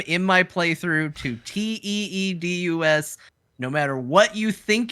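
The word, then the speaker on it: Tidus: It's pronounced Titus. Titus. Go do your own research. It's pronounced Titus. Yeah. I don't like it either. That's how it's pronounced.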